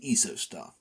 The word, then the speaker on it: Isostar: straight out of Switzerland isostar what the body loses through persperation is restored by eostar sorry eostar that's how Patrick Allan pronounces it and he had the